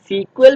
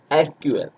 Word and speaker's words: SQL: तो आजकल जो है हम इसको सीक्वल प्रोनाउंस नहीं करते बल्कि ऑफिशियल जो इसकी प्रोनाउंसिएशन है दैट इज SQL.